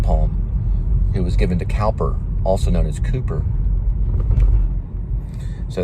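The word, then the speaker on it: Cowper: heard of his poetry they call him calper but he was known as Cooper too spelled like Cooper and so he published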